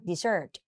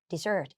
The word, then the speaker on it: dessert: Desert นะ dessert dessert แต่ ถ้า เป็น ขนม หวาน S 2 ตัว อ่าน dessert dessert ตาม คุณ ครู ทัน